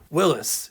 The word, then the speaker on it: Willys: Willis, yes, that's how the brand is supposed to be pronounced.